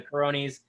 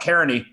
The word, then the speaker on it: Caroni: important question here yeah is it cara caroni because i always call it caronie then all these other people are called up kearny and i'm prone to pronouncing things wrong i def i desperately want to get it right so is it carony i i understand it caroni yeah and that's how